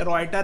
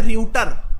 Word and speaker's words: Reuters: देखो गाइस, को हम लिखते हैं रियूटर, लेकिन पढ़ते हैं ऐसे रॉयटर, ऐसे पढ़ेंगे रॉयटर, पढ़ेंगे रियूटर नहीं पढ़ेंगे. We write it रियूटर बट we pronounce it एज रॉयटर.